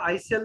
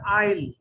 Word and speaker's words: aisle: এটা আইসেল না, এটা হচ্ছে আইল।